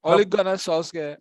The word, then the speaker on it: Ole Gunnar Solskjaer: Ole Gunnar Solskjaer or Babyface Assassin.